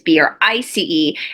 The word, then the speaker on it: Brice: That is the English pronunciation of Bryce, but the English spelling of Bryce is B-R-Y-C-E. However, the French spelling of Bryce is B-R-I-C-E, and it's actually pronounced Brice.